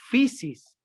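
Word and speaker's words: φύσις: una traducción de una palabra griega que se pronuncia physis yo les les dictó para que escriban efe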